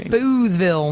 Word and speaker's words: Boothsville: Boozeville. We did it. It's Boothsville, but you got to say it Boozeville. Yeah, it's spelled like the guy that shot Lincoln.